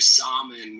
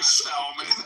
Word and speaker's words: salmon: Mother, stop eating your salmon with your chamomile. It's your salmon. In Spanish, we say salmon. So the L is pronounced in Spanish.